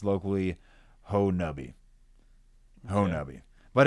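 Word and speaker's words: Honobia: Um the name of the of the community is pronounced locally Ho Nabi.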